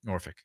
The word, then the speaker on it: Norfolk: and uh everybody was just talking so highly of him it's Norfolk yeah that's how you pronounce it Norfolk it's not F it's not isn't it f-o-l-k